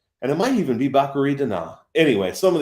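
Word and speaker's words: Batgerel: kang versus dana bakari which i think it's bakery i heard a lot of people up name pronunciations this week but i can't talk because when i did this the show was shady earlier this week i said baccarel which apparently is not how you say that name so it is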